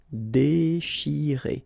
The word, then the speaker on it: déchirer: Déchirer, okay, C-N-H, sh, and after that you've got this I, chi. Déchirer, déchirer. Risquer, okay, remember what I